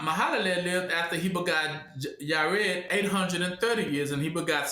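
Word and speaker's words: Jared: Oh y cuz the J is silent. Mhm. And I is the what? Six. He's the six. And Muham Mahal lived after he begott Yared 830 years.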